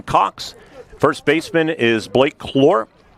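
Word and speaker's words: Claar: Infield third to first Payton Nicely, Braden Haney, Nathan Cox, first baseman is Blake Clore. It's spelled c l a a r but pronounced Clore and I asked if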